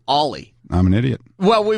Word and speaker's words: Oli: funny you should say that I called him oie Thompson because that's how his name is spelled o l y Thompson all night on